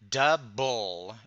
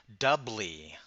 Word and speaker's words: double: see this is why we pronounce the phonetic sound of ble not as blee but as bull as in capable or able and that's exactly why we say doub bull and not doubly and that's why the